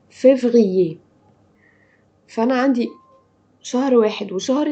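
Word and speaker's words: février: مرة كمان، جانفيي فيفريي، قلنا ايه المشترك فيهم؟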